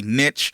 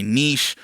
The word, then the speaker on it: niche: people also talk about this word called a niche or a niche or however you want to pronounce it based on where you are from in the world but it's basically